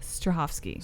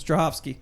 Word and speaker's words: Strahovski: on the name uh her name is Yon Strahovski Strahovski see it's not even that hard all right hopefully she's